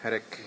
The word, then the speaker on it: Peric: your last name originally it's m p pich but m peric is good enough peric yeah so pich